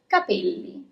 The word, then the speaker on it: capelli: The first word is of our series is capelli. Capelli means hair. And so here you also already have one double letter letter L. Capelli. So you see it's kind of a longer consonant.